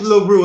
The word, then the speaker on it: LeRoux: the name is this my real name is laru that's my real last name spelled the same